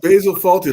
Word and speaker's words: Fawlty: It's Basil Fawlty, like Faulty Towers. Great thing. Basil Fawlty. It was like Faulty with a W instead of a U.